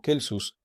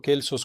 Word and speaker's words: Celsus: Ahora escucharán a muchas personas pronunciar Celsus como Kelsus y para mí está bien. Pero así como en el inglés normal, dejamos que Kaisar se convierta en César. Yo pronuncio la semábilante, pero de ustedes depende cómo pronunciarla y acepto con gusto Kelsos como el nombre de nuestro sujeto.